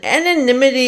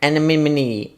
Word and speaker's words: anonymity: opinions, it's only Listen, anonymity is a hard word to pronounce. Alright, anonymity. Anonymity. Anonymity from Nemo Finding Nemo.